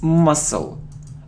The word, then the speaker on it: muscle: it isn't Maskull no it's muscle we don't pronounce C must it isn't health not